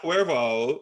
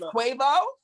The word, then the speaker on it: Quavo: It's not Cuervo. Listen, Malik, you trying to put your own little spin on it, bitch. I mean, I don't say his name much, so... She's not in my vocab, so it's okay. It's Quavo? Yes.